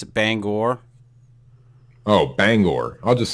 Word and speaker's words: Bangor: you're from Maine it's Banga Banga but you can close if you want to say it like it's supposed to be said I guess it's Bangor Oh Bangor I'll just